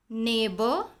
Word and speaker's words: neighbor: Neighbor, daughter, fight, straight. In these words, GH is silent.